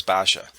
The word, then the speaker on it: Basia: I didn't know how to pronounce it, so it's Basha.